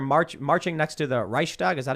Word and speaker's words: Reichstag: thing is they're march marching next to the reichstag is that how you pronounce it yes with torches in their hands